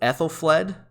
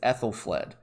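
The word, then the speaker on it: Æthelflæd: people ask me how the crap do you pronounce this name uh it's actually not too bad so it's ethyl fled um the ae is a sound so it's ethyl fled and ethelfled is it's kind of curious that they turned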